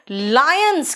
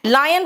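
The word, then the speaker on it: lion: देखो, लायंस क्या करते हैं बेटा? लॉयंस, पता नहीं क्यों लॉयंस लॉयंस करते हो तुम लोग, लायन होता है।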